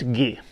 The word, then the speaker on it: Gi: David Mowaljarlai, he also writes about this, and I think this is supposed to be pronounced Gi. Not G or something like that, but Gi.